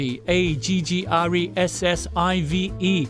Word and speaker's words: aggressive: 不过如果系另一个字 a g g r e s s i v e，虽然都系 a g 字头